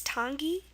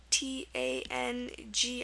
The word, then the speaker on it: tangi: sound okay and um examples to end with i let's put them on this side um okay let's um one example is Tangi t a n GI I see n an i and also Tiki t i k i Tangi is basically a funeral right um and Tiki is a wood or stone image so those are two words ending an i for the e sound one thing I did